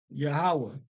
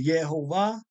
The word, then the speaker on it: Yahawah: pointed this out before in the Hebrew they have it pronounced says yahovah which is close yahovah is is closer than Jehovah okay but this is yahawah okay and once again